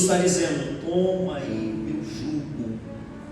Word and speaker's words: jugo: E Jesus está dizendo: toma aí meu jugo. E não é julgo, como nós temos o costume de dizer, pronunciar errado.